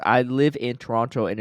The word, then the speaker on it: Toronto: shout out Hammerheads factions the last T isn't pronounced it was funny that this is like the fall coming isn't pronounced in Toronto uh Toronto um post